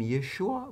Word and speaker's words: Yeshua: And he says: Even if they had lost the guttural 'ayin, they would still say "Yeshua," not "Yeshua" with 'ayin, but "Yeshua," not "Yeshu."